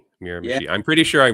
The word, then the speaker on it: Miramichi: So when you look at how it's spelled, that's how you sound it out. It sounds it out weird.